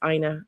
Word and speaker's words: Ina: You pronounced it right when you said Ina. It's not you know, it's Ina.